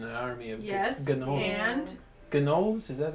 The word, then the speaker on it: gnolls: and Gnolls, is that how you say it? Knowles. No. Knowles. the G is silent.